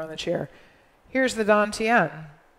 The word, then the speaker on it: dantian: chinese call it the don tien it's spelled like tan tian but it's pronounced dantian so let's pretend this